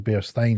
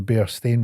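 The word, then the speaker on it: Berenstain: reality it was the bear stain bears pronounced with an a.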